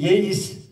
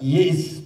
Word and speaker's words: Yeis: Yes diye başlar şiir. Yeis. Hani Arapça yeis. Doğru mu telaffuz ettim hocam? Yani yes değil yeis.